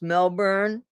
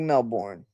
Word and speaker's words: Melbourne: It's actually pronounced Melbourne, but it's it it looks like Melbourne.